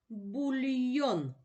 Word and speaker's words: бульйон: падає на перший склад що це бульйон постав наголос який голосний наголошений бульйон наголошений голосний о наголошений другий склад що це медальйон постав